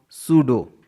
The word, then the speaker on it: pseudo: Generally, example, PSEUDO, सूडो, यहाँ पर PS है साथ में तो P साइलेंट है।